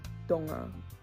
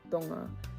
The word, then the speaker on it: Tonga: It's not like in Tongan though, where like the word for tonga is donga, donga. Like it's an actual D sound, so it's not as